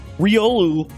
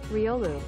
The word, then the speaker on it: Riolu: amazing i had no idea this is ryolu riolu riolu riolu riolu riolu rayquaza there this is this